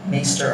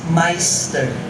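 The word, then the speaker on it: maister: While her maester, some pronounce it as maester or meister, evolved from politeness to heartlessness to callousness. If the woman in Judges 19 cannot be called a wife, then she's just a concubine, asawang alipin sa Tagalog. Ano naman ang tawag sa kanyang asawang amo sa Ingles? The most proper word for it is meister.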